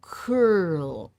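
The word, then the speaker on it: Coeurl: Next, you're going to draw the curl. C O E U R L. I didn't look up how to pronounce any of these. Congratulations. It's a cur.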